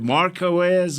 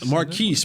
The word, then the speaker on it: Marquise: Is it Marquez or Marquise? No, Marquise. Marquise But that's Bell.